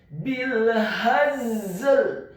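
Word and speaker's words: بالهزل: Kedua-duanya huruf za dan huruf lam wajib untuk dibaca dengan posisi sukun, dengan kondisi pengucapan pada lafaz harokat yang sukun. Bil hazl.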